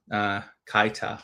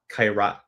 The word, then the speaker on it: Kairat: about the games versus Inter and Kaita, or whoever the heck we played right now. I'm sure I completely butchered that name, by the way. The last 2 Champions League game, Kairat, there you go.